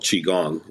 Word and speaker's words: qigong: emotional patterns and Trauma is a practice called chiong and it's spelled Qi G G and this is a